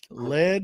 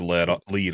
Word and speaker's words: Lead: Mike with Broken Lead Woodworks. Very good. Everybody says lead. It's like, yes, you can spell it that way, but it's actually lead, like a pencil lead, which is the whole